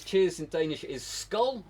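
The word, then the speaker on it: skål: Mikkel says cheers in Danish is skull. It's pronounced Skull.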